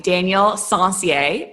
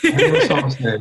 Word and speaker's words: Daniel Sencier: I am looking forward to having Daniel Sencier on today's episode. Did I say it right? That's right. Yes. Daniel Sencier.